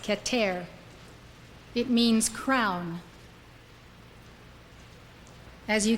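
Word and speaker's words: Keter: wrote is called katare it spelled ke ter pronounced cat air it means crown as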